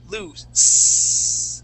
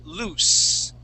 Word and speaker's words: loose: throat okay okay so when we say the word loose okay that that sound that is voiceless there's no vibration here s okay so loose that's how we pronounce that word it has two o loose okay our next